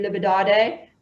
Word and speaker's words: Liberdade: And then just above there, again, probably not going to pronounce it right, Avenue Liberdade, otherwise known as the Champs-Élysées. You pronounced that correctly.